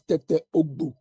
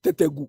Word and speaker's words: Tete Ogbu: The actual name is Tete Ogbu. But Kufuor gave the name the way they pronounce it, Tetegu. It's not Tetegu.